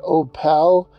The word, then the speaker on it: Opal: It is pronounced Opal because that is the way the train conductor pronounced it. As the train would enter the small town, the conductor would say, "Next stop, Opal."